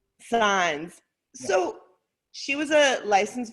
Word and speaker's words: Saenz: So let's go over Sands. Is that how you say your name? Signs. the Killer Nurse. It's pronounced S-I-G. Signs.